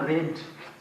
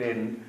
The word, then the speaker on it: read: Novel was being read का third from रेड, sound change होता है, स्पेलिंग सेम रहता है। Novel was being रेड, novel एक उपन्यास पढ़ रहा था।